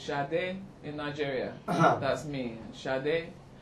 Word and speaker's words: Sade: Yeah, Sade. And how do you It's a say? bit more, well, in Nigeria it's more like that. It's Sade in Nigeria.